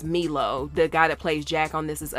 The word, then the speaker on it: Milo: With, I think his name is pronounced Milo, the guy that plays Jack on This Is Us.